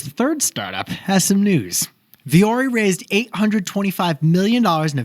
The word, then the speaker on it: Vuori: you're wanding at besties how do you pronounce it it's viori it's not vori or VII it's viori which is nothing like it spelled and it's finished for